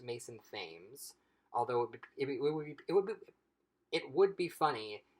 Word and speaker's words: Mason Thames: And with him in particular, his name I believe is pronounced Mason Thames, although it would be funny if his name was Mason Thames, because Mason tames a dragon.